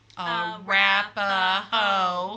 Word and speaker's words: Arapaho: It's pronounced Arapaho.